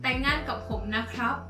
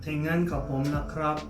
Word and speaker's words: แต่งงานกับผมนะครับ: Okay, so if it's like a guy proposing to a girlfriend, will probably be like แต่งงานกับผมนะครับ Yeah. แต่งงานกับผมนะครับ Yeah.